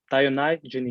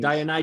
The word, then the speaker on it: Dionygenes: DioNyGenEs. DioNyGenEs. It's like a merge between two. DioNyGenEs. Perfect. Dionysus and Diogenes.